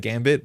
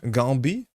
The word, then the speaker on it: Gambit: I think Gambit is pronounced almost the same in French. Gambit, Gambit, but there's no way that Galehar you say Gambit. like that's nonsense. The French do not say the T at the end.